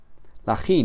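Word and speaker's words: χι: La ji no es una X, sino que es una J, como en la palabra jabón o la palabra jamón, ¿vale?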